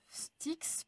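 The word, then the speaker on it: Styx: Donc si quelque chose sticks peut-être il y a peu de mot qui commence par c'est quoi la prononciation à la grecque alors c'est sticks mais ça veut dire n ou détestation ou nice.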